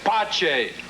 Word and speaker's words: Pace: Pace, you said your name was Father Pace. In inglese, in italiano mi nome si pronuncia Pace.